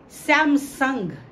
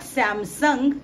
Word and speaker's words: Samsung: Samsung, it's not Samsung, it's Samsung, it's Samsung.